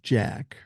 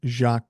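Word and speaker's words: Jacques: mentions now regarding jacqu I said the name Jack it's pronounced like jacqu custo not Jack LOL Gracie and and I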